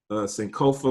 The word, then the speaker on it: Sankofa: Talk about the Sankofa movement and all of that stuff.